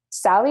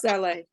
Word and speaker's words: Saleh: Sally is your name? Sorry. It's pronounced Saleh.